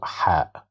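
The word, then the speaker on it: ه: And the letter H doesn't exist in English. We have no H in English. You see, it's H. This sound doesn't exist in English. It's a glottal sound.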